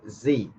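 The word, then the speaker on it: Sie: So we pronounce it what? Z.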